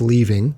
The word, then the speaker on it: Lee Ving: I am pronouncing his name correctly. It's Leaving.